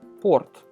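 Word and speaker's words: порт: The next one is a very similar word and is pronounced port, right? P-O-R-T, port.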